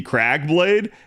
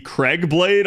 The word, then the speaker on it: Crag Blade: And the whole time she kept using the Crag Blade, and she kept calling it the Craig Blade on purpose to like mispronounce it.